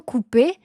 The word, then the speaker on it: coupées: l'adjectif coupé elles sont coupé et e s le e s à la fin attention c'est muet on l'écrit mais on le prononce pas principe de base numéro